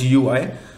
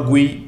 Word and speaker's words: GUI: a graphical user interface GUI also called as GUI or GUI we can pronounce it so GUI testing is